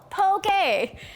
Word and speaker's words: poke: had a nickel for every time i hear someone say i'd like a pokeball no pokey and something else that